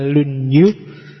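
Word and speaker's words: 論語: Yang pertama judulnya Dasu, yang kedua lunyu. Bacanya misah ya kalau disambung jadi lunyu. Y kalau lunyu licin.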